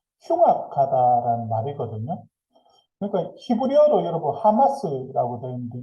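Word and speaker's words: חמס: 그러니까 히브리어로 여러분 하마스라고 되어 있는데 요즘 그 이스라엘과 전쟁하는 하마스 있잖아요. 그 발음이 똑같아요.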